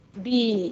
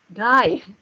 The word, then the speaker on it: die: Der Lehrer, kalau laki-laki profesi pasti der, kalau perempuan pasti di, ya. Bacanya di ya, bukan die. Di.